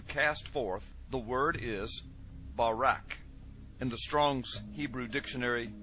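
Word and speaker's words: ברק: brightness or a glittering the Hebrew word is Barak so lightning or a flash of light in Hebrew is pronounced Barak or Barack now consider this amazing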